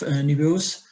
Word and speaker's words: Nebeus: And so the investors suggested it, and then you met the founders of Nebeus.